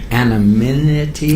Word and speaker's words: anonymity: Is that for anonymity?